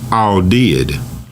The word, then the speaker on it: AWDID: you spell it so audit is really audit a u d i t but when you look it up it's pronounced all did so those two words are all and did which is in all of like is some terrible or amazingly disturbing and did is past tense of doe so in a sense